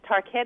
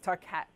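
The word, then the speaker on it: Tarkett: can get the latest tar ket is how you pronounce yes tar cat I love that okay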